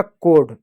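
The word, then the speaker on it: code: डी से ड होगा कोड। ई साइलेंट होगा।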